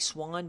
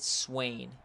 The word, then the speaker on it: Swan: yes so it's Swan it looks like Swan but we do pronounce it Swain and little miscommunication here